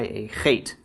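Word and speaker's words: אָח: How about Aleph, Patach, followed by a Chet? How would this be pronounced? I'm going to bring out the Scottish in you with this one.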